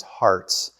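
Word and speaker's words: Harz: what it is that the correct pronunciation is Hartz with a T. And they put that T in there so Americans would pronounce it correctly. And I thought, that's pretty cool, actually. So if you go to Germany looking for Hartz Mountain, the district, leave the T out because it's not there. It's H-A-R-Z, Hartz Mountain, pronounced with a T, though.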